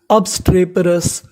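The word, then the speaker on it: obstreperous: इसे पढ़ेंगे पे अबस्ट्रे पे आर ओ यू एस इसे क्या पढ़ना है रस क्योंकि ओ यू एस है तो पूरी मीनिंग क्या बन गई अब्स्रे पेरस अबस्ट्रेपरस अबस्ट्रेपरस अबस्ट्रेपरस का मतलब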